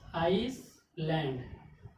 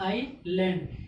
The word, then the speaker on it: island: अगर इसमें रूल्स ना पता हो तो क्या पढ़ा जाएगा इसको? अगर रूल्स ना पता हो तो इसको पढ़ा जाएगा आइसलैंड। ठीक, जो क्या है? रॉन्ग है, यानी कि गलत है। इसमें क्या है? एस क्या हो गया? साइलेंट हो गया। क्यों? क्योंकि आई और एल के बीच में क्या आ गया? एस आ गया। तो जब एस हो गया साइलेंट तो क्या हो जाएगा? आई लैंड, यानी क्या हो गया?